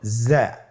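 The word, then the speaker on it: زاي: উচ্চারণ করার সময় অবশ্যই এক আলিফ টেনে পড়তে হবে, এক আলিফ টেনে পড়তে হবে। হরফটি বারিক হরফ, এই জন্যে পাতলা করে উচ্চারণ করতে হবে।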